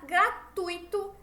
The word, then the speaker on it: gratuito: Com a tonicidade da palavra tuito, certo? A sílaba tônica tuito mais forte.